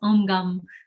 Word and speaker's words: Om Gum: How to pronounce Om Gum, just how it looks, Om Gum.